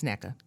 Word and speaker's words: Nneka: The WNBA president, Miss Nneka Ogunwak, I can never say her name, but it's Nneka.